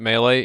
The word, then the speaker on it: melee: around when people are shooting you you get melee so that you can stab faster and that word is pronounced melee it's not Mele it makes me want to stab people when they say melee it's melee you get stability so your iron